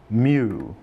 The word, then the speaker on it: mu: is given a Greek letter prefix this is pronounced mu it is 10 to the negative 6 times